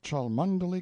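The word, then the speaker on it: Cholmondeley: sellers Viscount Berkeley of Charles mundely Castle Warwickshire pronounced kacubri slanover Marsh Bank sellers VI count Barkley of Chumley Castle Yorkshire he is standing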